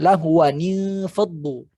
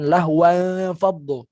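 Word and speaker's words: لهوا انفضوا: Maka bacanya lahwani faddu, bukan lahwan faddu.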